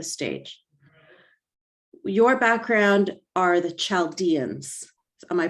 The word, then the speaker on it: Chaldeans: just set the stage your background are the chaldeans am i pronouncing that correctly eldians say it again yes chaldeans chaldeans okay okay great so can you tell us